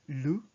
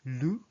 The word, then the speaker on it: le: So the is for masculine, it's lu. So you say lu, lu. It's like L-O-O, but with a French L.